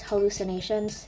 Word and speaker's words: Hallucynations: Okay, so hey guys, this is me, and if you guys don't know me, my name is Hallucinations. It's spelled HALLUCYNATIONS.